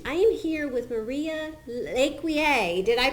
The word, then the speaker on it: LeCuyer: I am here with Maria LeCuyer. Did I pronounce that awesome.